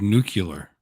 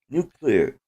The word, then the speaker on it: nuclear: fan aren't you because you just said nuclear new channel you threw that middle syllable that doesn't exist in the nuclear okay ah it's no clear nuclear you can't yeah it's new and it's clear yes nice Definitely Don